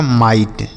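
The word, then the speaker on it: might: आई जी एच टी तो एम आई से हम पढ़ेंगे माई और जी एच टी को क्या पढ़ते हैं? ट लिखा आपका माइट।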